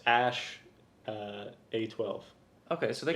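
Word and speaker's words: Æ: my god x z three or slash x ash uh a12 okay so they can say a e but it's pronounced ash okay so how do you know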